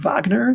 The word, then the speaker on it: Wagner: Most Americans don't say Richard Wagner. They usually say Richard Wagner when they're referring to the composer. So I just sort of went for the colloquial.